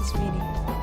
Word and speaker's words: Ismene: What do you mean, Ismini? It's pronounced Ismini. Shit, I thought it was Ismini.